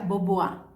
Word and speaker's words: Bombois: cambian woodward se escribe bomb boys pero se pronuncia board porque era francés france título entonces estamos listos